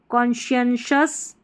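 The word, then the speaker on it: conscious: कौन सी ओ एन कौन कौन सी कौन शी शी का साउंड आना चाहिए। एस के लिए यहां पर एस सी श कौनशियन स कॉनशस कॉशस यह है इसका उच्चारण कॉशस अब यहां पर एस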